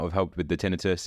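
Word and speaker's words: tinnitus: well I developed uh Tinus tinius I don't know how it's pronounced in English tinitus yeah tinitus like ringing in the ears um which had a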